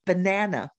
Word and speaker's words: banana: short vowel sounds right the schwa sound I think about that word banana right think about that